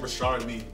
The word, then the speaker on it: Richard Mille: Rashard Lee. That's how you pronounce it, yeah.